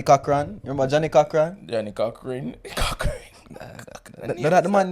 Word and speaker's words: Cochran: remember Johnny Cochran Johnny cockran the man name Coan it's spelled cockran but a cockran it's spelled Co c o c h r a n remember with last name